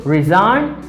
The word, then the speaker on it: resign: i have resign resign i say resign because the letter g is silent the uh uh design